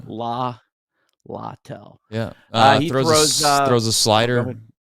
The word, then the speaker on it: Littell: And it's Littell. I actually looked up the pronouncing. Littell.